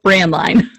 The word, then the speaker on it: Braendlein: that you couldn't read it's pronounced brand line brand line okay so now i